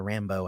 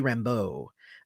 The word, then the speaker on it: Rambeau: I mean, Monica Rambeau, I guess, is what they're saying, but it should be Rambeau.